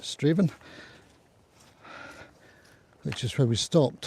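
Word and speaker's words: Strathaven: Nearest town after that will be Straven which is spelled like Strath Aan pronounced Straven which is where we stopped for our comfort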